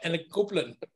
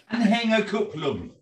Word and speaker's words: Anhängerkupplung: Anhängerkupplung. Oh, thank you, German. Anhängerkupplung. Because of the umlaut, it's the it's not an A, it's an E.